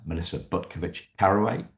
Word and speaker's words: Butkovich-Carraway: Today, I'm delighted to be joined by Melissa Butkovich-Carraway. Did I get it right? Yes, you did.